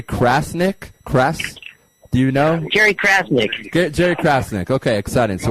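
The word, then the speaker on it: Crasnick: Jerry Krasnick.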